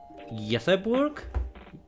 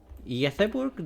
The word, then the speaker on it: Göteborg: Oh, you were in Helsingborg heading to Stockholm via I think you say Göteborg? Göteborg? Do I pronounce that correctly? It's not like Gothenburg, but Göteborg or something like that.